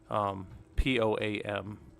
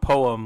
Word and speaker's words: POAM: POAM, POAM, not poem like.